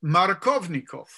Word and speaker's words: Markovnikov: Now, the emphasis in that name is on the Kov, right?